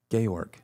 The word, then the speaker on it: Georg: Um so it's it's Jorge in Spanish. It's jar jars in Portuguese and gayorg in German.